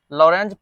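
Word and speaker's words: Lorentz: एन जेड नहीं आर एल ओ आर ई N sorry यहां पे टी जेड होता है टी साइलेंट रहता है लॉरेंज फोर्स लॉरेंज फोर्स लिखो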